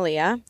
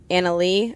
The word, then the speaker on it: Anna Lea: so please say people say Leah it's actually uh Anna Lee I was you know